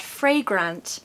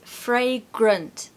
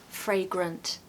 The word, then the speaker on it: fragrant: another important schah sound here in the second syllable okay so it's not fragrant no it is fragrant uh can you hear that schah inside that syllable helping that word sound really lovely fragrant fragrant number seven rejuvenating rejuvenating somehow just saying